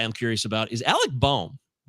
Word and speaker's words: Bohm: My next guy I'm curious about is Alec Bohm. Bohm? How do you say it? Boom, boom, boom, boom, boom, boom, boom, boom. That's how I say it.